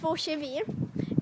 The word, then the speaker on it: tvochevid: Ja, och det är så här att två kevi, sämst namn, vi kommer inte på något annat.